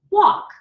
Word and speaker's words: walk: important that you'll know that talk I don't pronounce the L so it's tau K walk wau K okay very important that you all